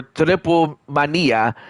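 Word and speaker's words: Triplemanía: Triple Mania, or Triple Mania, as it's pronounced in Spanish.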